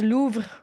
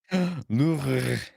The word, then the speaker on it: Louvre: Yeah, it's pronounced Louvre, Louvre. but I don't know how the English say it.